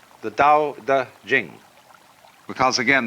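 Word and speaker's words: Tao Te Ching: And the book is called the Dao Da Jing because again there's no apostrophe after the t so it's pronounced duh and jing.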